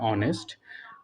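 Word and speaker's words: honest: হি ইজ অ্যান অনেস্ট ম্যান। এটা হবে অ্যান। কেন হবে সেটা বলছি। এখানে এইচ আছে যেটা হচ্ছে একটা কনসোনেন্ট, বাট এইচের উচ্চারণটা এখানে না হয়ে ওর মতো উচ্চারণ হয় অনেস্ট, যেটা হচ্ছে একটা ভাওয়েল।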